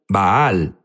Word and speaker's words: Baal: Unos dicen Baal, Baal es la pronunciación correcta.